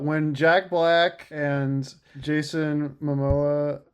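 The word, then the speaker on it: Momoa: When Jack Black and Jason Mimoa, you said it right. I always want to call him Jason Mimosa.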